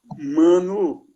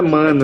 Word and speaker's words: Mãnu: Manu. Não é mano, é Manu. É porque tem trema em cima do U.